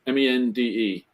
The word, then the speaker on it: Mende: Lima Fox, November Bravo, Mond, Mende, pronounced as if you were if it was spelled in English, it'd be Mond. Is how you pronounce it, Mond.